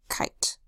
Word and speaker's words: kite: T that says t, and a silent final E that does not make a sound. Instead, it tells us that this is making a long I sound I. K, I, t, kite.